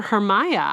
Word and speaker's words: Hermia: I don't know that the name is usually pronounced hermia these kids are calling her hermiah I know the folder